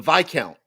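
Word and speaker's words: Viscount: this was like the the s's in silent the S is silent in this count Mike says it's like those who say repost as as repost as opposed to it's reposs v as in I Vice it's a the vi count VI countess uh okay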